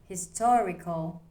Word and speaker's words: historical: Historical. The stress is on to.